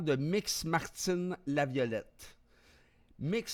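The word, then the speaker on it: Mx: mix Martin la violette mix se prononce mix et est un titre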